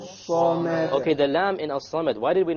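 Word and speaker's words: الصمد: Okay, the lam in As-Samad, why did we not pronounce it? Solar. It's a solar letter. The sad is a solar letter, which means we drop the lam when we have the alif lam there.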